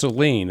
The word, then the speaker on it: Sollenne: It's Sollenne. It's just not spelled like Sollenne.